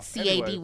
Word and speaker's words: Cady: I'll say this: Violet McGraw, who plays her niece, Katie or Katie. Caddy, or what's her name? I think it's Katie. It's Katie. Yeah, but it's spelled. It's spelled like Mean Caddy. Girls. Yeah. Cady.